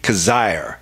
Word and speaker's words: Coziahr: one the only berry cos ire and any time your name rhymes with on fire you know you got